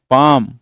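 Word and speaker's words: palm: पा और लिखना होगा जैसे पाम और बाम ये ये एल साइलेंट है एल ना पढ़ने लगना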